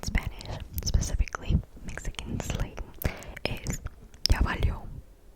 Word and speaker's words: ya valió: A way to say that in Spanish, specifically Mexican slang, is ya valió. Ya valió.